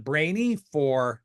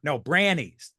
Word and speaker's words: Branny: I want to thank Sean Braney Branny. The guy is so nice. I've been mispronouncing his name for so long and he doesn't correct me until I asked.